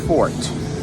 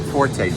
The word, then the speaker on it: forte: his uh that's his fort not Forte Fort that's how you pronounce that word check it out uh